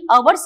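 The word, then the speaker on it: hours: लुप्त हो जाता है जैसे एच ओ यू आर में हर नहीं अवर्स कहते हैं पहला अक्षर साइलेंट हो जाता है वैसे ही अंग्रेजी भाषा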